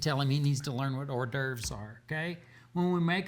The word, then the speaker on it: hors d'oeuvres: it right appetizers no not appetizing we say hors d'oeuvres it's french you speak french maybe it's not